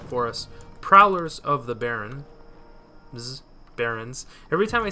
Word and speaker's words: Barrens: Prowlers of the Barrens. Every time I say the Barrens, I always say it like Prowlers of the Barren. I always say Baron. I forget the S on the Barrens.